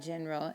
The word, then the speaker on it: general: general or generally in general in spanish it's in general remember that g when it's followed by an e makes the h sound in general now this